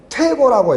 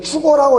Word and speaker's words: 퇴고: 이건 퇴고라고 읽어. 이걸 추고라고 읽으면 안 되고 여기 있는 원고 고자와 고자가 북고자가 다르다는 점 주의해줘.